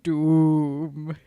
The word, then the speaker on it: Dume: Jedi Night and Dume, because that's how the wolf says it. So I'm going to say it like that. Dume.